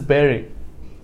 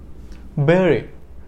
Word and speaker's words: buried: it no this is not buried this is Barry Barry buried sorry bu bu r IE d buried